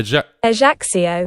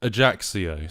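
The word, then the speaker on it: Ajaccio: the pronunciation there and this is how you pronounce the AIO a AIO AIO so that that's how you pronounce the the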